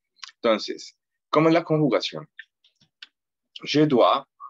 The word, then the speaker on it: dois: Je dois, de nuevo tenemos la OI, que es OA, la S no se pronuncia. Por lo general, las últimas letras en francés no se pronuncian.